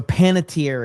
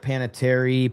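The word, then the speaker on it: Panettiere: So, Panitier is how you say it. I never knew how to say her name. I always said like Panitary Pan, you know.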